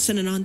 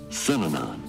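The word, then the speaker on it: Synanon: Those three syllables, Sinanon.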